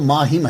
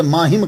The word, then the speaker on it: माहिम: जाइए आपके नाम के साथ जो लगता है महामी यह एक बात याद रखिए कि असल लफज़ तो माहिम है। मािम शहर का नाम है। मुल्क इंडिया की रियासत महाराष्ट्र में एक जजीरा है। उसे माहिम कहते हैं।